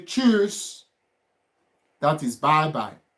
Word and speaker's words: Tschüss: You can say ciao, you can say tschüss. That is bye-bye. Tschüss, bye-bye. It's like you want to say chooks of Igbo. The Nigerians. You say tschüss.